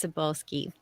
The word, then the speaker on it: Sabolski: um medieval yeah and you are asking how to pronounce my last name everyone stumbles over it so don't worry about it it's sabolski and I just want